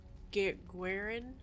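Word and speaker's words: Guerrin: he was raised by eamonn guerin i think is how it's pronounced arlo redcliffe for a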